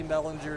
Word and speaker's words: Bellinger: always going to be Bellinger to me. Yeah, I know. It's a little hard to remember sometimes that it's a hard G.